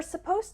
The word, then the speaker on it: suppose: We're supposed to park our cars in the company garage, but most people just park on the street. There's also a small pronunciation difference. Suppose ends with a z sound, suppose.